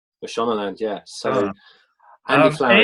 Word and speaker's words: Mashonaland: And I hope I'm pronouncing the club correctly. Mashonaland? Mashonaland, yeah.